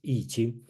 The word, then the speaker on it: Yijing: Okay, so remember this I pronounced as Yi, not I Ching, it's Yijing.